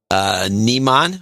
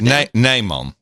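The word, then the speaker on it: Nijman: Almost. Nymon. Nymon. IJ is Nymon. It's pronounced. Well, so a little lesson. In Dutch, we have the lange I and the korte I. So the long I is IJ, Nymon, and the korte I is IE.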